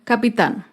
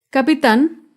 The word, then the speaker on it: capitán: termina en vocal bebé acá vemos otro ejemplo con la palabra capitán capitán es una palabra aguda se acentúa en la última sílaba y lleva tilde porque termina en la consonante n capitán otro ejemplo con la